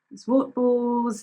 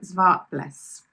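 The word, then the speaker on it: Zwartbles: some I have heard people say zwart balls and all sorts of things but yeah I looked up cuz I always try and say things in the right way and now you can Google pronunciation but they said it was like zv bless and I think it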